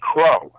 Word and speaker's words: Kreaux: My band Powershrine has done a couple of shows with his current band Crow, which is spelled Kreaux.